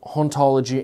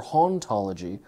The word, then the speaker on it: hauntology: da was French and the H in his in French would be silent so haunt ology and ontology would have the same pronounciation and this is big